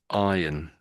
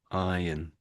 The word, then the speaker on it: iron: For most Brits, the R is silent and it's just iron, iron, iron.